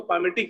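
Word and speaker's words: palmitic: एल भी होता है ना, एल एक्चुअली साइलेंट होता है उसमें, है ना, PAL, मैंने एल लिखा नहीं, उसमें एल एक्चुअली पढ़ते उसको पामेटिक है, लेकिन वही है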